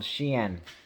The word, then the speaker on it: SHEIN: a certain fashion company called xi'an pronounced like she inside uh and this uh